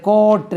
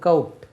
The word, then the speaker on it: coat: இதை கோட் இல்லை, அந்த ஹை கோர்ட் இருக்குல்ல, அதுதான் கோர்ட். சுப்ரீம் கோர்ட், COURT தான் கோர்ட். இதனுடைய உச்சரிப்பு கவுட். எப்படி கவுட், கவுட்.